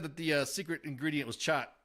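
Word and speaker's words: khat: Patrick said that the secret ingredient was chat. That's the way it's pronounced in Somalinga, not cot.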